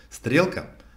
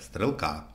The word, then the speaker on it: стрелка: в самом неожиданном месте например Стрелка может стать Стрелка а параметры превратиться в параметре поэтому очень рекомендую если увидели